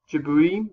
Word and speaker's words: Djibouti: These four countries, Eritrea, Djibouti, is how you pronounce that one.